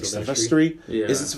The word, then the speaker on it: Silvestri: So, like, I feel like that scene, as epic as it is, the score, Alan, how do you pronounce his name? Like, Silvestri? Yeah. Is it Silvestri?